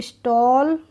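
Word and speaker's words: stall: बार लिख गया है एसटी ए डबल एल को पढ़ेंगे हम एसटी से हो गया स्ट तो स्टॉल और एस एम ए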